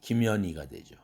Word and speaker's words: 김현희: 김현희라는 이름이 있는데 아주 발음하기에 좋지 않은 그런 이름이죠. H 다 날라가야 되죠. 김연희가 되죠.